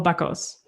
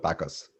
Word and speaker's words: Bakaus: best one but paul baccos yep tacos okay all right that's the german pronunciation you can also you can also go with backus that's fine too okay